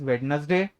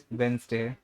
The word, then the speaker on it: Wednesday: Still, a lot of people call it as Wednesday, Wednesday, Wednesday. ठीक है. So the proper pronunciation is Wednesday.